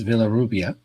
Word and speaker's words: Villarrubia: don't speak spanish it's villarrubia like it's written and if you speak spanish it has a b sound for the v and the r is